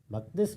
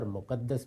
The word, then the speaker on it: مقدس: المقدس کہا جاتا ہے۔ مقدس بھی اور مقدس بھی دونوں تلفظ صحیح ہیں۔ یہ حرم مکہ سے